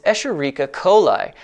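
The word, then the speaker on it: Escherichia coli: bioethanol a popular bacterium for this process is escherica coli yes that is how it is pronounced e coli is easy to engineer prolific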